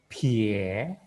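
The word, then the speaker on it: 撇: Ini pie, pie, Nah, ini suara ada angin kan? Maka kita juga anginkan suaranya. Jadi kita bacanya pie, pie, tirukan semuanya. Suaranya ada anginnya, ini penting sekali.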